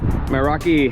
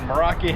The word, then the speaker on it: Meraki: guys so we're here with uh Randall with Meraki hammocks did I say it right you did Meraki Hammond Meraki hammock so uh basically it's a